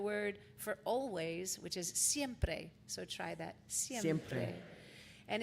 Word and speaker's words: siempre: I know you're going to have them there, but let me teach you how to pronounce it. It's going to have the word for always, which is siempre.